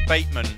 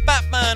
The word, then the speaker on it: Bateman: I'm playing with them my surname is baitman but doesn't always get pronounced correctly so the band's like oh we got Batman on the base we